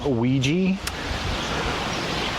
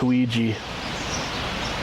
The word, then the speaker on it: Ouija: I think about it in French. Because oui, O-U-I, yes in French.